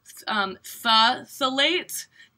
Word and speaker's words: phthalate: know, you know me, I like am horrible pronouncing things, and then phthalate, PHA, oh sorry, look at me, I'm a mess, I have mascara here, at least I got it now, right?